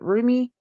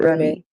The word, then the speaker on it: Rumi: Rumi. I always mispronounce his name. I believe it's Rummy. I've heard people pronounce it Rumi and Rummy. I pronounce it Rummy.